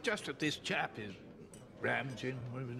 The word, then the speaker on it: Ramanujan: Ramanujan. Am I pronouncing that properly?